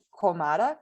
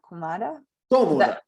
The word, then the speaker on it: cómoda: Ella está cómoda. Cómoda. The accent on the O.